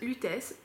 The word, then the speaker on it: Lutèce: bah sentir c'est rose lutesse rose on va le prononcer à la parisienne parce que lutesse c'est l'Anci nom de Paris rose l'utesse de poil